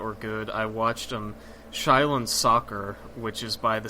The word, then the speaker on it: Shaolin: It may be pronounced like Shaolin Soccer or Shaolin Soccer.